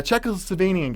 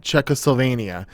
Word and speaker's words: Czechoslovakia: totally undiscovered from a Czechoslovakian guy. All right, first off, I was trying to say Czechoslovakia, not Czechoslovenia. What?